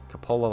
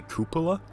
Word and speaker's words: cupola: tank which has a Coppola like this I keep getting corrected people are actually cupola its KU q actually cupola all right you got to pronounce it right you gotta you have